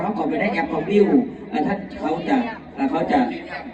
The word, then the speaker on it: Viu: เข้า ไป เบิ่ง ได้ viu อ่าน ว่า วิว ใคร ๆ ก็ วิว